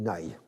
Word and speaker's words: Nagy: d'un frein revenir alors français on dit imre nagy il ya en gros on dit nay dû regarder ça sur